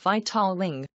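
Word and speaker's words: victualling: And vitualing, pronounced vitaling, with 494.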